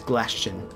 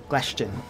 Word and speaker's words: Glashton: His name is Glashton. Glashton. It rhymes with Bastion, which I apologize.